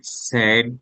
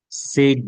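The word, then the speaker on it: said: এটা বলা হয় যে ইট ইজ সেই, স্যাড, স্যাড, সেই মানে বলা, পাস্ট স্যাড, সেড না, স্যাড, উচ্চারণ হবে স্যাড।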